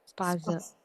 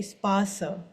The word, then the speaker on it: Spaß: Spaß, There is no E at the ending. So if there is E at the ending, then we will say spasa. But there is Spaß, no E at the end. So it will be spas only.